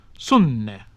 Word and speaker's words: sunne: Finally, when consonants were written double, they were pronounced long, rather as in modern Italian. Sunne, sun, fyllan, to fill.